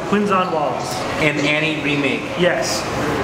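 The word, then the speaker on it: Quvenzhané: Jamie Fox and uh her name is quite hard to pronounce I thought it was a certain way but it's actually not it's quinzon Wallace and Annie remake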